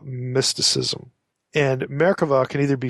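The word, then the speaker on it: merkavah: type is known as merkava mysticism and merkova can either be spelled with a B America with a V it's pronounced V if you're saying it in Hebrew American mysticism the word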